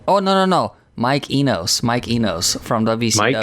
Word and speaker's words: Enos: late night days and take much joy and saying mike anus and pronounce it like he's got penis as his surname uh almost some guy